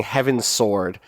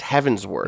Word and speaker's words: Heavensward: I've made it to heavensward which is not me mispronouncing heavens sword nor is it them invent I think that's what it was no it's heavensward now maybe but is